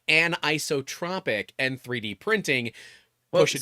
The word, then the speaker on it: anisotropic: I'm like oh it's anotropic. I'm like oh no it's anizotropic. Yeah anizotropic because I'm a dyslexic idiot and it should be anisotropic. Right. You're you're supposed to be like a like a break there.